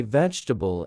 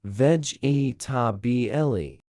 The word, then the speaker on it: vegetable: Most learners say vegetable as 4 syllables, vegetable. Native speakers compress it to 3 vegetable. The second E is swallowed completely in natural speech.